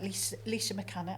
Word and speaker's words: Laoishe MacCana: We've got Laoishe MacCana.